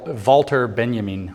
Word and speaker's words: Walter Benjamin: to spell it Walter Benjamin but it's w wter Benjamin when you pronounce it in German wter Benjamin was a Mystic and unfortunately for the conspiracy